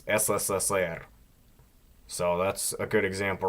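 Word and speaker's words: СССР: It's always S. So remember that, like you see on the flags or whatever. SSSR. It's not CCCP, because then it wouldn't be Russian.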